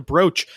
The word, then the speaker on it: brooch: I also thought of like, it sounds similar to brooch. B-R-O-O-C-H. It is pronounced brooch. It is just brooch. So it's not combining things. It actually is just brooch.